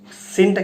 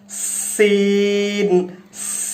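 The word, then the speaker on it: سين: তো দর্শক আবার লক্ষ্য করুন সিনটা কিভাবে উচ্চারিত হয়, সিন, সিন। দাঁতের সাথে দাঁত লাগিয়ে বাতাস বের করে দিতে হবে।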